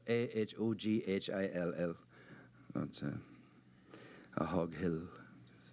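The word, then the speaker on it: Ahoghill: Uh, the world is divided into those who can pronounce a hawk on site and those who cannot. It It is spelled A H O G H I L L.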